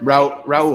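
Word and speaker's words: Raúl: Roel, thank you very much. Oh, Raul Zavala. Tell us who got it right. I went with Raul. Spanish pronunciation.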